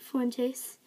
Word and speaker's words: Fuentes: Did I say that right? Fuentes? That's right, yeah.